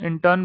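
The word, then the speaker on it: intern: कुछ एक यहाँ पे मैंने क्या कर रखा है, ये देखिए, इंटर्न, इंटर्न, इंटर्न बोलते हैं, इंटर्न, आर साइलेंट है, इंटर्न।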